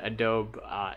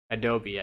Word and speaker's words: Adobe: that does have like the a'dope editor adobe i guess is the proper name proper way to say it but it does have